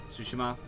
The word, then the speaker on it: Tsushima: um ghost of uh sushima um sushima that's that's the way you pronounce it uh I appreciate you